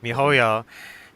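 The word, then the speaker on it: miHoYo: looked up uh bullkit boycott genjin and bokot mihuyo is that's how you say it yeah you've said it it's me hoyo and uh yeah the last tweet for woodcutting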